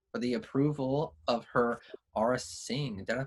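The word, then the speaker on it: Aurra Sing: First off, congratulations to BH91197 for the approval of her Aura Singh. Did I pronounce that right?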